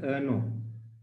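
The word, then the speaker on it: errno: So that that header file is so simply you can pronounce it as ano.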